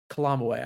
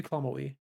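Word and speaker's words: Calamawy: Kalamoi, I think, is how it's pronounced. Period. She ate maybe Kamoi. She did.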